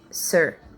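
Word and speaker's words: Shur: Then Moses led Israel from the Red Sea, and they went into the desert of Sur. Now it's spelled S-H-U-R.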